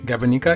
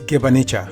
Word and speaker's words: gibanica: Okay, so I had this, and at that time I was calling it Gabanica. It's not Gibanica, it's Gibanica. So that's the dessert, and it was absolutely fantastic.